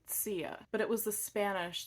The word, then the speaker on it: Zia: about my heritage so even though sia is spelled zia the correct pronunciation is actually sia but it was the